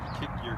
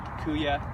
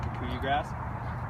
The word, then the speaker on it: kikuyu: This is kikuyu grass, not kick your grass, right? Kikuyu grass. And some people will call it kikuya, but it's pronounced kikuyu grass.